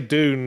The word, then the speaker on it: Dune: Dune.